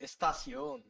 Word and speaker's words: Estación: It's not a pistachio. It's Estación.